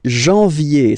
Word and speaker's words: janvier: But anyway, janvier. So that's the way to pronounce it. Janvier. A-N, en. Okay? And then ye.